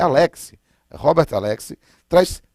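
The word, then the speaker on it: Alexy: Ele é alemão, então não é Alexi, é Alexi.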